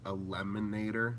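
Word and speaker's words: Elemonator: I know everyone says that, but so it's actually pronounced a lemonator, like lemon. The word lemon is in it, a lemonator.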